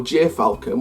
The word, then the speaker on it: gyrfalcon: called Jai Falcon or gyrfalcon whatever it's pronounced as Gyr and Foulke it gy r and then falcon for next year i'm